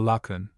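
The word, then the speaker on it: Laocoön: And a statue or two, especially that famous one commonly called the Lunan, so as to rhyme with moon and spoon, and representing an old man with his two sons in the embraces of two monstrous serpents.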